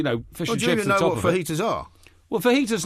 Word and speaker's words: fajita: was chicken T Sal it certainly can't be fajita as you describe it right well that is how you say it because it's a Spanish uh J because I don't see